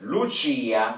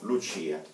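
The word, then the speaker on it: Lucia: В женском роде Лучия, ударение падает на И. Лучо, Лучия.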